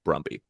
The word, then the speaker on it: Brumby: So I'm gonna pick the first name Brumby. Brumby. I'm sorry. Who came up with that? Grumpy? What do you mean? That's a great name. That sounds like it rhymes with grumpy.